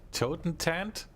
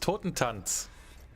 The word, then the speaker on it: Totentanz: How do they call that? Totentant? That's pronounced Totentanz.